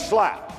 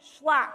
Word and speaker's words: Schlapp: with sarah mercedes slapper larry got my name wrong my name is mercedes huckabee schlapp i mean we do